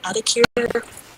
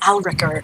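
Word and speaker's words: Yalrek: going to see yl is it alakir sorry alakir here is your pronunciation well here's your spelling y a l r e k r aler alakir one of those two aler yes aler we're going to go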